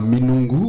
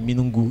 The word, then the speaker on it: Minoungou: peu de la famille Minungu dans ton village? Est-ce qu'on ne t'a pas régné? Non, du tout, parce que en famille, la prononciation reste le même. Ah, on prononce pas le N.